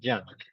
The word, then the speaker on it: junk: Junk food, okay, junk food. This Okay, you pronounce like an A, junk.